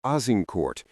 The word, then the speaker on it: Azincourt: On October 24, 1415, near the village of Azincourt, which the English would pronounce as Agincourt, the English army finally came to face with the French host.